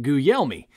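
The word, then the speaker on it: Guglielmi: how to pronounce it it's spelled g-u-g l-i-e-l-m-i and it's pronounced goo yell me and hey listen i'll be the first to tell you it doesn't look like it should be pronounced guyomi and i once read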